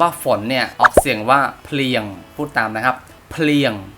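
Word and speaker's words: ភ្លៀង: โอเค คำ ว่า ฝน เนี่ย ออก เสียง ว่า เพียง พูด ตาม นะ ครับ เพียง เป็น ครบ กล้าม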